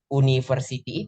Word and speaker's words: university: bukan itu vokal nah teman-teman cara bacanya University itu pakai y Uni a University seperti itu kalau misalnya saya bilang